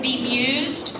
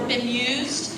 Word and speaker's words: bemused: Your word is bemused or bemused. Has a couple of pronunciations.